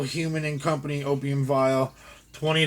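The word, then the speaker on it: Heumann: i've seen personally uh l human and not like it's not like spelled like human um you can say h-e-u-m-a-n-n l human and company incorporated from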